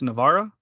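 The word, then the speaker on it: Navarra: are you exactly is is it pronounced Navara yes yes it's like the proph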